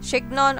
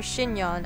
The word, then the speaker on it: chignon: Chignon or chignon. I prefer calling it chignon. Sounds like freaking onion, but yeah, it's kind of like French word, right?